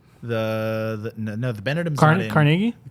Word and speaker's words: Carnegie: used to play there there's one in New York that's the real one right which is pronounced Carnegie well that's wrong that's how they well